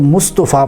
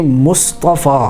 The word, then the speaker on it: مصطفیٰ: کے زیر کے ساتھ۔ اسی طرح مصطفیٰ لفظ ہے، اس کو لوگ مصطفیٰ پڑھتے ہیں، توا کے اوپر پیش پڑھتے ہیں۔ توا کے اوپر پیش نہیں پڑھنی چاہیے، بلکہ اس کو یوں پڑھنا چاہیے مصطفیٰ۔ اسی طرح کوئی بندے